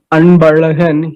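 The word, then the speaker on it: Anbazhagan: If you know any Tamil person having name Anbalagan, he used to write ANPAZHAGAN, Anbalagan. That ZHA means ra.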